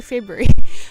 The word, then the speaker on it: February: Um and they say like February Feb February February like the R is quite difficult.